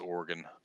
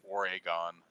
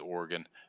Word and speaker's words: Oregon: two syllables right it's organ but some people say Oregon right they like they they get that e in there somehow but it's just organ Oregon I think I